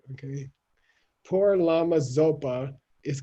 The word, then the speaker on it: Zopa: send it you see it's a low tone s okay don't think it's a z okay poor llama zopa is called zopa for